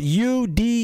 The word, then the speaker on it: Udemy: into there's a website it's called you dimming it's spelled u-d-e-m-y right it's called udemy i'll show it to